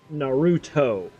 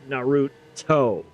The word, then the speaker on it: Naruto: So remember, English, we soften our T's quite a bit, okay? But when you're talking in Japanese, your T's are hard. So when you're saying, like, Naruto, you say Naruto, not Naruto.